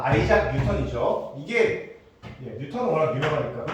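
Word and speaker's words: Isaac: 그 우리는 이삭이라고 읽고 외국 애들은 아이작이라고 읽어요. 네. 아이작이 맞아. 아이작.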